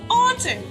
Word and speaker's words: autumn: Letter N is silent in the word autumn.